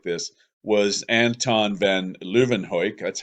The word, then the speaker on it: van Leeuwenhoek: The first person to observe living cells, that would have been bacteria, sperm, blood, things like this, was Anton Van Leeuwenhoek. That's how I'm pronouncing his name.